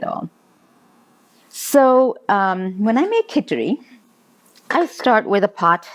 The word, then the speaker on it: Kitchari: It's called Khitchari, and Khitchari is spelled Kitchari.